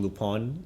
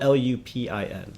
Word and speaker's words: Lupin: But going back to it, I would recommend also watching Lupon. It's spelled L U P I N.